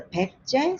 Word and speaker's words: 백제: Or this is pronounced as a 백제, so they now tend to change it to B as opposed to P sound.